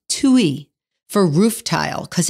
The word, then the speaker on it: tuile: a tuile in America but in French it's pronounced to e for roof tile because it's so thin so